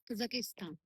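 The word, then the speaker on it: Қазақстан: और ये कजाकिस्तान, कजाकिस्तान इसको एक्चुअली प्रोनाउंस करा जाता है कजाकिस्तान।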